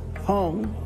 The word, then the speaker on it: Hawn: Ó-val, vagy Á-val, vagy Hawn. Hawn, Goldie Hawn.